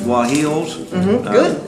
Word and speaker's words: guajillos: So you're putting more of these chilies in, these guajillos. Good pronunciation.